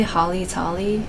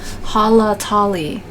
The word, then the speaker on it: Halatali: this dungeon I usually say Holly tally but there's actually more A's in there than eyes so I mispronounced it all the time Hala Tali Hala Tali from the